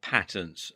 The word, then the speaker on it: patents: one and two are patents or patents as some people pronounce it and when it